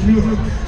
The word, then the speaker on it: Newark: Make sure you don't pronounce that Newark. It's Newark.